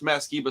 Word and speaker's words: Matt Skiba: what this is the this is the best Matt skiba stuff I've heard in years is what I felt that's what I felt that's the proper way to say it this is the best masciba stuff that I've heard in a long long